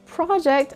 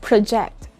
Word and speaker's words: project: this is a noun if you have said project then you're correct how about if this is a verb it's project project again you put this stress on the first syllable if that is a noun project and you put the stress on the second syllable if that is a verb project project if a word is